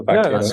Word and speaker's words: vaqueros: I mean, cow in Spanish is vaca. So vaqueros.